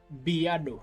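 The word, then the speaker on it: בְּיָדוֹ: So that means we give it a little bit of a bi, a little pronunciation, bi. Biado.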